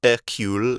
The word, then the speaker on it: Hercule: it says Belgian detective Hercule Poirot's is sometimes pronounced air-cool it depends on which version of the story read Hercule Poirot is in Istanbul